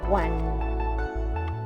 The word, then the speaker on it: one: The number one is pronounced one. Yes, the same as the passive verb to win.